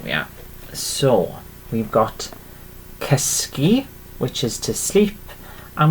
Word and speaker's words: cysgu: Okay, and to sleep in Welsh and Gymraeg is cysgu. Okay, cysgu. Okay, is literally to sleep. Cysgu. Okay, so I'll write this one down for you again. Yeah, literally. There we are. So we've got cysgu, which is to sleep, and we pronounce it